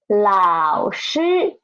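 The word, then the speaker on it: 老师: Okay, next one is 老师, a third tone and a first tone.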